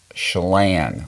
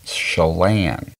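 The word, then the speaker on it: Chelan: long go to hooked onws dcom forward SL shalan which is spelled c h e l a n and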